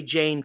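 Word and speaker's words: Jayne: there's an author named i think it's pronounced jane ann krentz j-a-y-n-e and she her stuff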